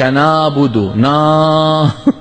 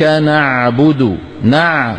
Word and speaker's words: نعبد: إياك نعبد نا نا، هذا مو عين. العين شو؟ نع. إياك نعبد نع، لابد منك تخلي لسان المزمار